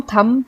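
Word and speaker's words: thumb: थम को हम थम पढ़ते हैं, थम्ब नहीं पढ़ते हैं।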